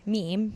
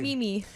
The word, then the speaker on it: meme: So Jim Nantz mispronounced the word meme. Jim Nantz is an out of touch buffoon these days. He said, I'm sorry. He said Mimi.